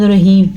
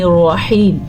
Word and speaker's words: الرحیم: ہیں بسم اللہ الرحمن الرحیم۔ آپ جلدی پڑھیں یا آہستہ آہستہ پڑھیں، تلفظ آپ کا ٹھیک ہونا چاہیے۔ ہا کا تلفظ کلیئر ہوگا، میم کی کھڑی زبر